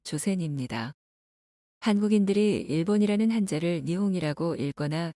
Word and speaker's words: 조센: 조선이라는 한자를 일본식으로 읽으면 조센입니다.